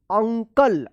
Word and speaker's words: uncle: UNCLE अंकल, अगर शुरू में यू रहता है तब भी जो है ना यू का अ उच्चारण होता है, जैसे अप, अप, अंकल।